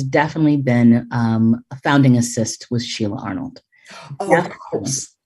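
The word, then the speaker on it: ASST: people know it but assist is a-s-s-t and tell us what that stands for artists standing strong together and you pronounce it assist so we'll put that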